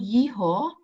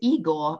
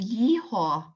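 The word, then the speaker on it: Єгор: they've and they've translated it in German to Igor, so with the g sound instead of the h, and at the beginning with an e sound instead of a y.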